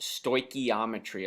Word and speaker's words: stoichiometry: last word is not a typo it is pronounced stoichiometry a lot of times we'll call it stoick for short and it is your last unit in chemistry and we look at the word stoichiometry just understanding where it comes from and it's